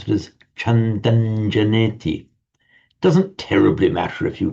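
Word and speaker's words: chandaṃ janeti: On its own, it would be pronounced Chandang, but with the following J, as I say, it's pronounced Chandanjaneti. You still write it with a subdotted M, but you pronounce it as Chandanjaneti.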